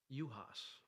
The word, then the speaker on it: Juhasz: known your last name uas is that how you say it yep yep I'm gonna get that